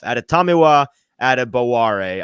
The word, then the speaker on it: Adetomiwa Adebawore: Why don't we start with the Northwestern product himself, Adetomiwa Adebawore.